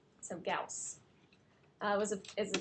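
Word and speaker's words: Gauss: so Carl friedr gaus gaus rhymes with mouse it's not ghost so gaus uh was a is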